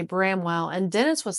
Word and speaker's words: Bramwell: And he said it's Bramwell.